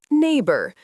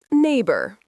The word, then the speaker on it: neighbor: Neighbor. The gh is silent. Neighbor.